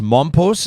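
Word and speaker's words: Mompox: hotels are in how do you see this mom post is that how you pronounce it that's right it's a tiny town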